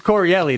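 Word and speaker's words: Correale: I'm no longer Pete Corielli, dude. You roll it. It's Pete Corielli. And you're Maniscalco. It's fucking great. So it's Corielli.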